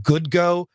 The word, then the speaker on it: GUUDGO: But I happened to buy some cameras from a company called, I guess it's pronounced GoodGo. GUUDGO.